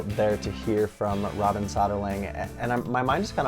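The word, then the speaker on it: Söderling: So it's Soderling. There you have it. It's just the O with the two dots we have in Sweden. It pronounced ö.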